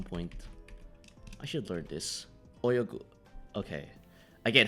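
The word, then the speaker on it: 泳ぐ: Oh, no, ayogu. Oyogu. Asobu is to play. Yes, this one. I was like, yeah. It's not asobu. Oyogu.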